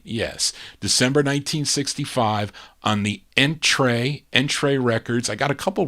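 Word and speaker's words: Entrée: It has the accent over the E. I think that's pronounced A. Entree Records.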